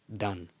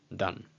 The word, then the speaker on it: Dan: Okay, I'm not gonna go the dan. Okay, it's just done. And also, as we learned a few weeks ago with the Beged Kefet letters, this probably had a different pronunciation many years ago. Now we just say done.